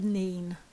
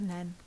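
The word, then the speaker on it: Nene: river the ripple or the Neen or some pronounce in different counties than n so the mean or the nen so which river flows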